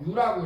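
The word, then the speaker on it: μ: 뮤라고 읽어요.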